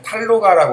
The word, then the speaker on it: 탄로가: 보통 이런 걸 탄로가 발음할 때 탈로가라고 그러는데 탈로가는 뭐냐면 한탄한다.